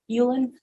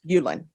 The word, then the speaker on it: Uleand: Allen for mul and are you Jean Yulan Amana how do you pronounce your last name Ulen Ulen okay I've been watching too many Korean dram